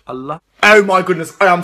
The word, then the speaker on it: Allah: up our Muslims believe in their God called ala alia am i pronouncing that right it's actually pronounced Allah oh my goodness I am so sorry I